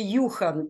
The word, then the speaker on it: Юхан: До речі, його ім'я произноситься по-шведськи Юхан через У.